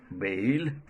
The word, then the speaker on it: bale: But BALE is again a diphthong, bail.